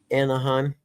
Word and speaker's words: Anaheim: Anaheim.